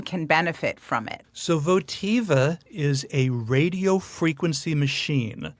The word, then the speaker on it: Votiva: Did I pronounce it correct? Yes. Okay, and Votiva, what it is a vaginal rejuvenation or Yes.